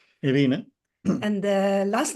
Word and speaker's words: Ewine: we pronounce your name so my first name is the pronounced as Aina Aina and the last name